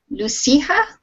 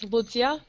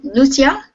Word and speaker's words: Lucia: to pronounce your name I'll try Lua no it's luia but you can call me Lucy it's easier for you okay well Lucia did I say it